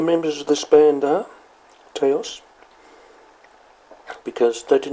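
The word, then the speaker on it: Taos: Towels is how they pronounce it, Towels.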